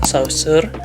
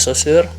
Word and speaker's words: Saussure: temen-temen dari jurusan lain kadang aku dengar ada yang bilang saussure ya Tapi bacanya susur karena aku kebetulan dari Nusa Francis jadi aku tahu cara bacanya kayak gimana cuman itu nggak penting